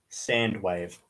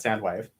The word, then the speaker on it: Soundwave: say his name properly I say it as sand wave because I when I thought talking about Soundwave so it sounds like sand wave I'm a bit of